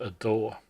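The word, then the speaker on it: DAW: a digital audio workstation the aw which is pronounced a door there are many doors but the one I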